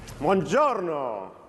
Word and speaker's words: buongiorno: Buongiorno. Buenos dias. No, buongiorno in Italian, buongiorno.